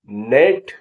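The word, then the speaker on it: gnat: होता है जी हां कई बार शब्दों का पहला अक्षर भी साइलेंट होता है अर्थात अनुचर या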